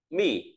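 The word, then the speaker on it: 密: Bên trên là bộ mật, nó về bí mật đọc là mỉ.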